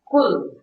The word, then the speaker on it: QU: To do thing is Ku, Q-U. It's pronounced like K-W-I-H.